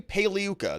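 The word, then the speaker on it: Pagliuca: maxwell's defense lawyer jeffrey paliyuka the g is silent like lasagna and uh mixed reactions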